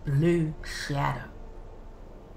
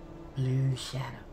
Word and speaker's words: Bloo'Shadow: This is my new character, and his name is Bloo'Shadow, and it's spelt B-L-O-O hyphen shadow, Bloo'Shadow.